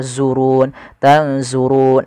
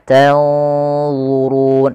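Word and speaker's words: تَنظُرُونَ: tanzurun kemudian padafal Allah harus hati-hati jangan sampai dibaca zurun tanzurun enggak tapi dia tanzurun d zu duzu du zu du zu tebal du maka durun.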